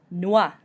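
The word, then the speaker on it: noix: the end either okay Noah meaning nuts you pretend almost like the X isn't there Noah Noah son we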